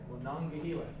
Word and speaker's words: Monongahela: If I say it slowly, I'll say it right. Monongahela.